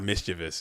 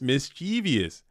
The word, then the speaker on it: mischievous: been a long day mischievous is pronounced it's not mischievous you guys stop with the mischievous it's mischievous dang come on man